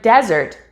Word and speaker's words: desert: its meaning for example the word desert and dessert have very similar spellings and pronunciation the only real difference in spoken english is the word stress and this is how